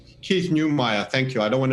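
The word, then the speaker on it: Neumeyer: in front of me i think it's keith newmeier keith neumayer thank you i don't want to do him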